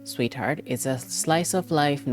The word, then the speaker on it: SweetXheart: SweetXheart, pronounced Sweetheart, is a slice of life visual novel about microaggressions, race, and gender.